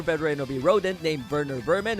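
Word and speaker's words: Werner Werman: rodent named Verer Vermin, who all this time I have been mispronouncing his name with a W instead of a V cuz how the heck was I supposed to know he was German?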